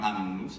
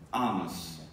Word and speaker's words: annus: Non dicono annus, dicono anus.